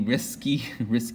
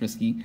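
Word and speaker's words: Rieske: But the, this is called the risky, that's pronounced risky, risky iron sulfur protein.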